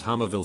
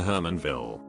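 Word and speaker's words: Hermanville: of seven and eleven I thought the town they lived in was called hammer Ville for a whole year cause that's how they pronounced it until we drove a different way one time and there was a sign that said welcome to Herman ville I couldn't wrap my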